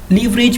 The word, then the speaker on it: leverage: would have little leverage लीवरेज भी सही है और लेवरेज बहुत हैव दिस बहुत right pronunciation of this word.